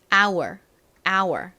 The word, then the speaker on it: hour: H가 묵음이죠. 그래서 OUR의 소리만 나는데요. OUR은 단어에 따라서 다양한 소리가 날 수 있는데 이 단어에서는 OU가 가진 아우 소리와 R의 소리가 연결되어서 hour 이렇게 발음이 됩니다.